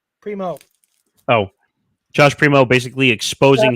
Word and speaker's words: Primo: Kyrie Irving, Josh Prima. Is that how you say his name? Or Primo? Primo.